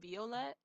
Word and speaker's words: Violett: Purple colors in different languages so actually it's pronounced Violet and German so that's what my name originally